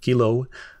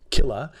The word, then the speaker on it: kilo: or thousand for kilo kilo um pronounced Kila if you're just kind of being quick about stuff like kilometer or using it maybe that's my Canadian accent um 10 the 6